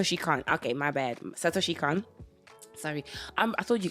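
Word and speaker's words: Satoshi Kon: it's perfect Blue from shitoshi Satoshi Khan yes that's how she can't okay my bad Satoshi Khan sorry I'm I told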